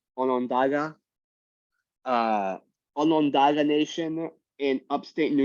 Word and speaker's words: Onondaga: Am I pronouncing that right? Onondaga?